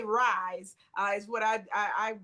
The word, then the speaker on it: R.I.S.E.: I say Rise is what I pronounce it as, but R.I.S.E is the acronym for it.